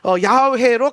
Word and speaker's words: 야훼: 그래서 이게 사실은 영어로는 저호바고 한국어로는 이게 여호와로 번역이 됐지만 원래 히브리 성경은 히브리어로 기록되어 있는데 이 성경의 히브리어에는 유대의 바브헤이가 야훼로 가장 가깝게 발음을 한다. 그래서 저는 야훼라고 발음을 하는 겁니다.